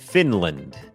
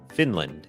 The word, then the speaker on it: Finland: เสียง ฟินแลนด์ อ่าน ว่า Finland Finland โอเค อัน นี้ บ่ง บอก ว่า อ่า จำ ได้ มย อัน นี้ ก็ เน้น พยางค์ ขึ้น สูง fin พยางค์ ไม่ เน้น land Finland Finland เหมือน กัน ครับ ชุม